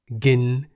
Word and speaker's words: กิน: Why the middle tone? Well, the single syllable in the word gin is a live syllable because it has a sonorant final consonant no nu. Gin begins with a middle class consonant Go Gai.